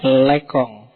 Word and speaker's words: Lacan: Roland bad yang ketiga lekong tulisannya Ne lacan tapi mocone lekong ya basa Prancis ya Tapi bacanya enggak sambil